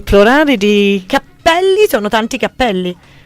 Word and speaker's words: cappelli: Cappelli sono tanti cappelli. E i capelli, cioè un capello è un singolo capello, uno. Ok. Tanti capelli. Ok, fino a lì ci arrivo. Solo che a seconda della pronuncia, capelli o cappelli.